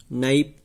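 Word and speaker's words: knife: न्यू इसमें के एन ई डब्ल्यू, नाइप और के इसमें साइलेंट है, ऑनेस्ट नहीं ऑनेस्ट तो इसमें एच साइलेंट है, एच ओ एन एस टी, नी इसके अंदर के साइलेंट है।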